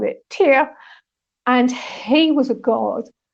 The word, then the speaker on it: Tyr: So I say Tyr because that's the Danish pronunciation of it, but mainly people will call it Tyr.